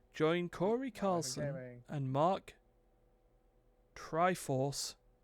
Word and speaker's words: Try4ce: Join Corey Carlson and Mark Triforce. That's how you pronounce that. There you go. TRY4CE. That's Triforce.